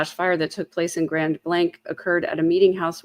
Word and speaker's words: Grand Blanc: way, that it's um, the way to pronounce the town name is Grand Blank. I was told that by a resident.